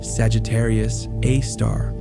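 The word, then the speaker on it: Sagittarius A*: Our own Milky Way galaxy hosts a supermassive black hole known as Sagittarius A, pronounced Sagittarius A star.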